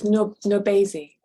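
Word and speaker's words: NourbeSe: How do you pronounce her name? I don't know that writer. It's Nobesi.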